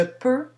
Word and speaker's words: peux: personne du singulier je peux tu peux ne prononce pas le x elle peut avec un